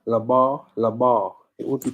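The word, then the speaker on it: לבב: So it would be pronounced Labar, Labar, Labar.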